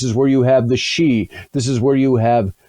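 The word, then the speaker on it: sidhe: the she uh it's it's spelled s-i-d-h-e in irish the the she and that's where you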